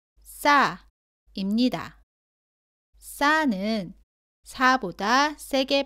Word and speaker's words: 싸: 발음은 사와 비슷한데 목에 힘을 주고 조금 더 세게 발음합니다. 공기가 나오지 않도록 발음합니다. 따라해 보세요. 싸, 싸.